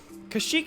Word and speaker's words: Kashyyyk: They say Kashyyyk in Star Wars Battlefront 2. Yeah. Yeah, it's definitely, I think it's the more prevalent pronunciation at least. Even if there is no, like, 100% correct one.